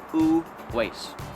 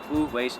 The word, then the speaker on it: Uwais: you sir well you pronounce my name who was very simple who was and then everyone else pronounce so it's who W glad we clear that